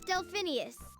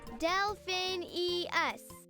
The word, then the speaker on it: Delphinius: was trying to say my name's delphinius what Delphin e us got it delphinius got it complicated name